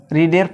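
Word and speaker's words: read: তাহলে এটা প্যাসিভ হবে হলো, the book is well when it ইজ রিডের past participle হলো রেড। এটা একই বানান, কিন্তু উচ্চারণটা আলাদা।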